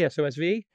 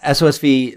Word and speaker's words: SOSV: Am I pronouncing it correctly? SOSV? Yeah, SOSV, that's the name of the venture capital firm.